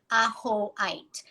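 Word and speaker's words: ajoite: know first of all it's spelled a j o i t e a hoeit and it's clear quartz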